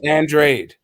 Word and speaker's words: Andrade: you his name is again his name is pronounced andrade people still don't know how to pronounce his